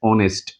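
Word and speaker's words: honest: এই সেন্টেন্স এই ওয়ার্ডটা উচ্চারণ করতে গেলে কিন্তু আমাকে বাউলের মতন প্রথম উচ্চারণ হইতেছে। দেখো এান অনেস্ট অনেস্ট অউল আসতেছে এইজন্য এখানে এন হইছে।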